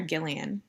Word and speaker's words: Gillian: Is it Gillian or Gillian? Gillian, it's a hard G.